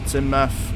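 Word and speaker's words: Teignmouth: it dollish waren doish Tim Tim meth so or timm because it's not pronounced tth Tim meth because English uh new abber to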